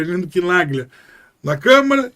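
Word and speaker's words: Chinaglia: Quando você pega o quebra-cabeça para montar, você vai chegar a um deputado do PT, o Arlindo Quinaglia, né? Essa é a pronúncia correta do nome dele, Arlindo Quinaglia, na Câmara, e o Orlando Silva, do PCdoB, sendo as vozes do Barroso.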